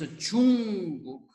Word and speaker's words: 중국: So the correct way to say is 중국, everyone. 중국.